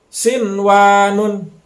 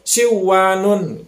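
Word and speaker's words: صنوان: mati ketemu dengan Wow walaupun nun mati ketemu dengan laut tapi dibacanya jangan dimasukkan jangan sampai Sewon karena ini dalam satu kata udah mutlak dibacanya harus jelas gitu sinwanun sinwanun Jangan sampai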